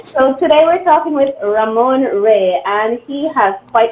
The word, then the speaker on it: Ramon: And is that the correct pronunciation? That's correct. Some people say Raymond, some people say Ramoncito, some people say every other thing, but it's Ramon.